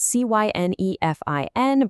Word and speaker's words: Cynefin: It's spelled c y n e f i n, but you actually pronounce it Cynefin. It's a Welsh word.